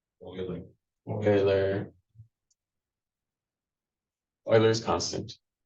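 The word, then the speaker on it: Euler: annoying this is pronounced Oiler Oiler Oiler is constant Oiler not uler Oiler because this is a German name feel like I spoken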